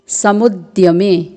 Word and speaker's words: समुद्यमे: फिर रण समुद्यमे, यहाँ पर समुद्यमे में द्य संयुक्त वर्ण है जो कि अर्धवर्ण द और पूर्ण वर्ण य से मिलकर बना है।